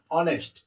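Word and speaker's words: honest: অনেস্ট, এখানে কিন্তু এইচ এর উচ্চারণ হনেস্ট না, অনেস্ট।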